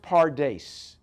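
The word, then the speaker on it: פרדס: It's pronounced pardes.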